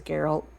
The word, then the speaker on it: Gerald: God his name is Gerald soft G though so it's different okay